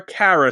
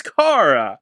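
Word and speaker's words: Kara: here they call her Cara throughout the whole movie Her name is Cara drive me nuts the entire movie Her name is Cara it's a short a not a long a well I'm glad you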